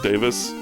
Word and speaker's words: Davies: Greg Davis. They always pronounce it Davis, but it's spelled Davies.